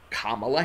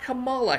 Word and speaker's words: Kamala: kind of understandable because there are people who spell their name the same way, K-A-M-A-L-A, and pronounce their names Kamala. But Kamala Harris is not one of those people.